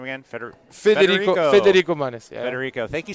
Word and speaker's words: Federico Manes: Federico Manes.